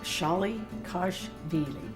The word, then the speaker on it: Shalikashvili: Dolly gosh really like shy Kos vely shy like Dolly Kos like gosh vely like reallyy and the people in